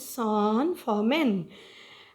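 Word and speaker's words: San Fermín: This is the word, a Spanish word, and the pronunciation of it is San Fermin.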